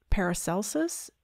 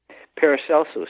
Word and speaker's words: Paracelsus: are just overwhelming Jung spoke and lectured on paracelsus is that how it's pronounced paracelsus yeah he lived outside of Minefield on a